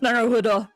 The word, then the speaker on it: Naruhodo: So this is how it's pronounced, Naruhodo.